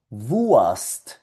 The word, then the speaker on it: Wurst: Salchicha en alemán es Wurst, Wurst, salchicha.